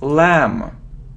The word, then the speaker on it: lamb: it isn't lamb or it isn't lamb no we don't pronounce b so it's lamb lamb next you see so